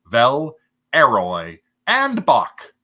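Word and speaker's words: Villeroy & Boch: always try to recognize look for V royan Bosch or as some of you may pronounce it Vel aroy and Bach um and this one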